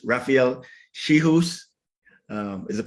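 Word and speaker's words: Czichos: It's Rafael Schihus, is the pronunciation of it.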